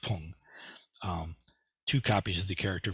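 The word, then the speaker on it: 품: that means class, ranking, or quality, and it's pronounced pung.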